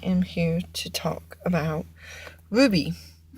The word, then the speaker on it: RWBY: here to talk about Ruby and if you don't know it would be is it is spelled or WB y in this an American